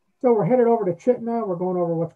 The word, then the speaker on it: Chitina: You would think it's pronounced Chitina, but it's actually Chitna.